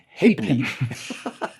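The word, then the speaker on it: halfpenny: informing mr green that the correct pronunciation of half penny in england is happening i stand corrected well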